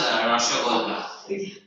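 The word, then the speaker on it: রসগোল্লা: It's actually pronounced Rashogolla.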